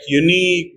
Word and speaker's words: unique: tangerine and Etc okay and also when we have I Plus gu U at the end or I plus Q U at the end in these two endings also I is pronounce e examples for i g